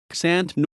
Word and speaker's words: Xanten: Xanten, German pronunciation, ksantän, Lower Franconian Santen, is a town in the state of North Rhine-Westphalia, Germany.